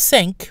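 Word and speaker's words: cinq: starts with a vowel the number five is pronounced sync with a pronounced q1 by itself and when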